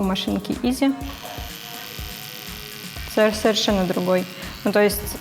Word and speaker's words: EZ: Это EZ, на самом деле правильно говорить Easy.